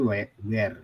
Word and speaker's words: where: Ini bacanya bukan wir ya. Tapi where.